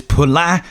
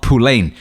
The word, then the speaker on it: Poullain: it for him and make sure you pronounce his name right it's polar not pulane come on you ignorant say it right what a dude what